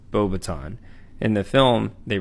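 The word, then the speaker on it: Beauxbatons: he attended bobaton which is rightfully pronounced bobaton in the film they pronounce it bobaton which is a french wizarding school located in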